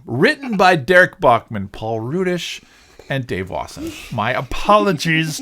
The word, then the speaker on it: Rudish: did i say paul reddish i've been so good the last few weeks since we realized it's pronounced rudish and i went my